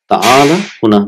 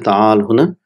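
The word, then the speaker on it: تعال: So it's normally it is ta'ala, but it is pronounced as ta'al, because normally when we end the sentence we put a sukoon, but it's originally it is ta'ala. Ta'ala huna, that will be the right way.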